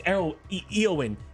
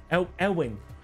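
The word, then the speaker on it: Éowyn: It's Eowyn. Eowyn. I don't know how to pronounce medieval English.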